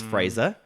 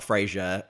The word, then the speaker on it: Frazer: to say my name it's Fraser Fraser Fraser Fraser like Razer Fraser like Razer cutting like laser eraser not Frasier that show will haunt